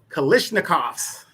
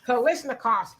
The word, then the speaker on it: Kalashnikovs: Kalashnikovs. Kalashnikovs.